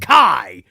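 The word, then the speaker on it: χ: Kingdom Hearts they're very adamant about calling it key like they even highlight zor's like ah yes the the ancient the oldest letter key sometimes pronounced Kai but I'm GNA pronounce it key so you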